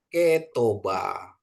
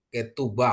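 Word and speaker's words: כְּתֻבָּה: Terus ini ada Kop, ada Dages bacanya K jadi Ketoba ya. Ketoba. Ketuba maaf, Ketuba ya. Ketuba. Ini U ya.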